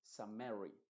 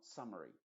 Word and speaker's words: summary: es la palabra summary que no se dice sumary sino summary summary y ahí se cambia la vocal en vez de una e se va a pronunciar como una sha que después lo vamos